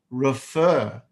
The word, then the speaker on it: refer: Refer, refer. The stress is on the FER, refer.